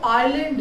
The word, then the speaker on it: island: के बाद, कि जो आइलैंड, जो ISLAND जो है ये वर्ड है, ये जो आप अभी पढ़ते हैं उसे आइलैंड पढ़ते हैं, यहाँ पर एस को साइलेंट करते हैं।